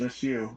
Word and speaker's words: Su: It's like Sukhoi, it's SU, but you pronounce it like a word, so it's just Su.